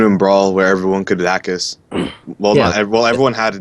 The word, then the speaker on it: DACUS: Dacus is spelled D-A-C-U-S. It stands for dash attack canceled up smash.